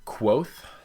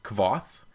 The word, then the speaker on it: Kvothe: on our main character quoth which I have to continually remind myself is not pronounced Cove off because that I pronounce it the first time I read it through but he starts off